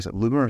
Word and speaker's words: Loomer: Loomer, is that right? Yeah. Zuma, to rhyme with Zuma.